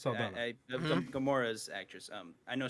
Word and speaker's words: Saldana: and I think Zoe Salda, Salda, Saldina, is that how you pronounce it? Saldana.